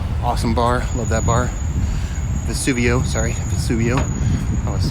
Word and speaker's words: Vesuvio: lights right here city lights bookstore in uh vesuvius a little awesome bar love that bar vesuvio sorry vesuvio i want to say it wrong